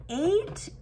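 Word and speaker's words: eight: 8 is an interesting number word because it has a lot of silent letters. These 3 letters are silent, I, G, H.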